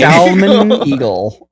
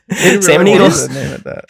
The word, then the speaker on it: Salmon Eagle: I love that you have to pronounce the L with it. Otherwise, it sounds too much like the original name. Salmon Eagle. Yeah. Salmon Eagle.